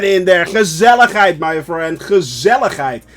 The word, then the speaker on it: gezelligheid: Gezelligheid. That's actually how you pronounce it. So, with the hard G.